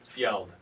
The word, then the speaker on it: Fjeld: on top of home financing world is Fjeld. Nailed it. Did I? Nailed it? Fjeld? No, there you screwed it up. What? Fjeld. Fjeld, that's what I said. Yeah, and then you said Field.